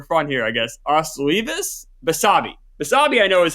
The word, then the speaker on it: Basabe: Basabe, I know is how you say his last name, right?